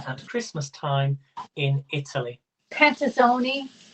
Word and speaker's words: panettone: christmas time in italy pantasoni panazoni i don't i'm not sure if i'm saying that right it begins with pee right i can tell you the answer yes it is panettone and it's spelt p